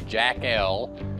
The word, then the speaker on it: Jackel: And this is what's called a Jackel. It's actually, that's the way they pronounce it, J-A-C-K-E-L, sump pump basin and lid.